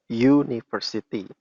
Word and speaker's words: university: Karena university atau university di situ dibacanya university. Suaranya y alias y.